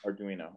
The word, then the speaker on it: Arduino: arduino yeah or how do you say arduino arduino okay and then is that usually using the